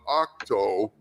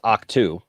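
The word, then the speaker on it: Ahch-To: Okay, so first of all, it's Octu. This guy really does not know how to pronounce words, does he? He doesn't. No. I mean, he's all over the map on this. It's Octu. It's got two. Okay, so it's Octu.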